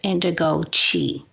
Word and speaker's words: Indigo Qi: It's pronounced Indigo Qi.